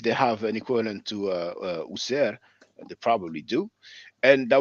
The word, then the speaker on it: Wsr: The W once again is the sound U. So we don't see any E here, but we add the vowel E. So it's smoother to pronounce.